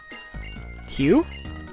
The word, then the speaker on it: Hugh: How are you supposed to pronounce his name? It's H-U-G-H. I can't think of a way to pronounce that other than Hugh. Okay. Hugh? That's really just Hugh.